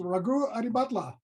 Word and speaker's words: Raghu Adibhatla: This is, and please smack my hand if I get your name wrong, but this is Ragu Adibatla.